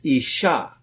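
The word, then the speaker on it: אישה: didn't shin and the word for woman is Isha which is alif shin hey two letters are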